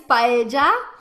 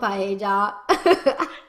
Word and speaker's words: paella: that the actual way to say that is paella then people are like no it's not paella well then i'm going to have to be